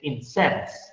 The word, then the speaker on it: incense: But there is another meaning of the word, of the same written word, but you pronounce it very differently. You change the stress and you say incense.